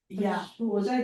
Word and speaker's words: Khushbu Oja: She is Khushbu Oja, yeah, I'm pronouncing right. Yeah, absolutely.